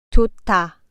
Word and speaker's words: 좋다: 좋다. 앞 글자의 히읗이 사라지고 뒷 글자의 자음 디귿이 트로 발음됩니다.